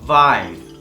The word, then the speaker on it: Wein: en una misma palabra, esto se va a pronunciar como ai. Por ejemplo, klein, pequeño, klein. También hace que este sonido largo, klein, der Wein, el vino, der Wein, die Bäckerei, la panadería.